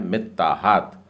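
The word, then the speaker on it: מתחת: उसके बाद का शब्द है मीताहात, और त भी 2 बार बोलना है, मित्ताहात।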